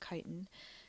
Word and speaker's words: chitin: pond organisms fungi multicellular cell walls made of chitin it's pronounced chitin and they're all heterotrophic plants multicellular but they're